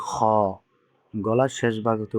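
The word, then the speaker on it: خ: দেখানো হয়েছে, এটা হলো গলার শেষ ভাগ। তাহলে এটা এখান থেকে উচ্চারণ হবে। তাহলে উচ্চারণ কি হলো? খ।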